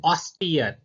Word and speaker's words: austere: Next है ऑस्टियर. A-U-S-T-E-R-E. A-U-S-T-E-R-E. ऑस्टियर pronunciation है इसका.